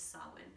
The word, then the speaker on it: Samhain: 1st also known as sawin which is the pagan witching new year you might see that word actually um around social media it's spelled very differently than it's pronounced it's spelled s-a-m-h-a-i-n so you'll see it